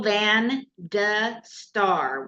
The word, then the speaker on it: Van de Star: So it's Van de Star, one R, right? 1 R, yes. Oh, good. And it's pronounced D.